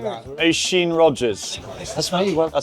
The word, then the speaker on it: Oisin: Oisin Rogers.